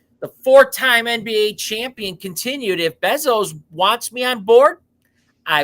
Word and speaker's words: Bezos: do you say it is it bezels or Bezos Bezos he's also interested so